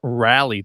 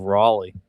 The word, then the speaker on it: Raleigh: Yeah, for the longest time I pronounced it rally too instead of Raleigh.